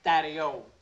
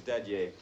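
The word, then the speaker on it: Dadier: out of your system name is daddy a mr. daddy a pronunciation is a very important part of English I'd hate to fail anybody who couldn't pronounce my name mr.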